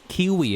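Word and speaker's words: Keighley: Yeah, it's Kiwi, isn't it? I swear it's Kiwi. People say people always like pronounce his name as Kiwi.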